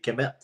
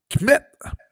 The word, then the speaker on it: Kmet: Kmet. Ouais, c'est comme Comet, là, mais il faut que tu dises vite. Kmet.